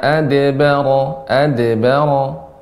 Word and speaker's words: adbara: Ya, tidak adbara, ringan ya pantulannya. Tsumma adbara wastakbar. Baik Ustaz. Tsumma adbara wastakbar. Masih ya, ya pengucapannya tsumma adbara, gitu ya, ya, Ustaz. adbara. Nah, Summa adbara wastakbar. ya, mungkin masih terbiasa sebelumnya adbara sehingga seperti tertahan. Adbara ada jeda, ada tertahan. Adbara harusnya mengalir.